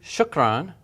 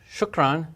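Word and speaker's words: شكراً: and as we said when you see this and pronounce it as n okay we just learned shukran shukran meaning thank you let's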